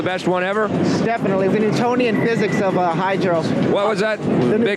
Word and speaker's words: Newtonian: newtoni spell that word n e w t o n i a n oh like Newton yes Isaac Newton yes